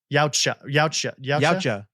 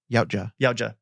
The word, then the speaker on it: Yautja: Yautja. Yout, say it with me. Yout. Ja. Yautja.